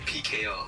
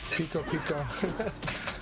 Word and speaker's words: Pico: I was going to call it PKO, but now that I know, I could just call it Pico. Yeah, Pico. Two syllables instead of PK on 3 syllables.